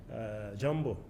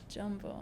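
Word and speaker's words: jambo: Hi, Jumbo. Jumbo.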